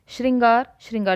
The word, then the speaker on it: श्रृंगार: अब इसको मैं दोबारा आपके समक्ष बनाती हूं श्रृंगार ऐसे लिखा जाता है ठीक है अब इसको